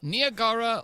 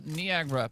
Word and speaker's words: Niagara: You can pronounce it either which way. You can say Niagara or Niagra. Both of them are right.